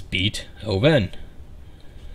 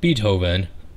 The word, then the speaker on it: Beethoven: spelled with two e's i immediately want to pronounce his beat oven as in b and hoeven but i'm using all the fibers of my being to prevent mispronouncing the name beethoven beethoven is about a saint bernard that lost